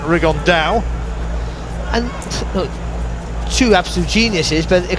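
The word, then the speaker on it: Rigondeaux: three weeks as he's correctly pronounced with the uh the Spanish accent rig on Dao two absolute Geniuses but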